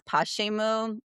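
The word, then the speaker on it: Pochemu: It's Pashimu. It's a pretty That's really cute. I didn't know if I was like poku. Pashimu, but Poshimu. Really pretty. So, it's the Russian word for why.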